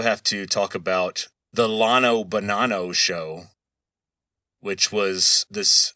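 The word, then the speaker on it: Llano: So yeah, these are the official Texas pronunciations of these towns, but at the Lano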